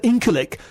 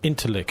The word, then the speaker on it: Incirlik: And the Incirlik Air Base is actually very crucial to... I think it's pronounced Interlik, actually.